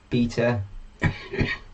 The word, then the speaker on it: beta: So yeah, why do Americans say beta when it's B-E-T-A? It's not B-A-T-A. It's beta, not beta.